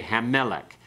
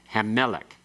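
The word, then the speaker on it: הַמֶּלֶךְ: Okay, Hammelech. You keep the accent on the meh part, okay? Hammelech.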